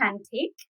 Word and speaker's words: Cantik: Yeah, it's pronounced Cantik, which means Cantik, which is Indonesian for beautiful.